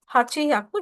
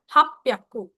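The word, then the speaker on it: はっぴゃく: है तो I guess आप इसको सॉल्व करोगे हाकू जो कि गलत है। हम इसको सॉल्व करेंगे। हप प्याकू हप प्याकू हप प्याकू स्पेलिंग रहेगी हप प्याकू हप प्याकू हप प्याकू हप प्याकू हप प में स्टॉप होके प्याकू हप प्याकू तो एक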